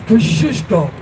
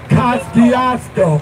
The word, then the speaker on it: Kosciuszko: You might know, but you don't pronounce his name correctly. That's Thaddeus Kosciuszko, not Kosciuszko.